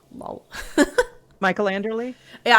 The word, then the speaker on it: Anderle: Michael Anderly. Yeah. I was reading it like andural like the last e was like silent letter in my head.